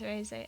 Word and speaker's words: Reze: The way you're supposed to pronounce her name is Reze. I always say Raze though.